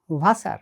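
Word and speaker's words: Wasser: আর ডাব উচ্চারিত হয় ইংরেজি ভি এর মত করে। যেমন ভাসার মানে পানি। আর যদি জার্মান এল গলার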